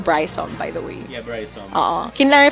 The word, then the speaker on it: Brisom: for everybody tuned in it's pronounced Bryce on by the way he'd